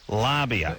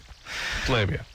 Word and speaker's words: labia: of the years that a fair amount of this country pronounces labia lobby really I think it's a